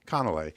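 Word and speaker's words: canelé: a French pastry called Canales um and you can remember the pronunciation because you can think of it like Matthew MCC instead it's conell um yeah so you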